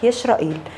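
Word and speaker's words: ישראל: والكلمة في اللغة العبرية بتنطق يشرائيل، لأن في العبري السين بتتقلب شين، وهي مكونة من شقين، يشرى معناها يجاهد وإيل معناها الله.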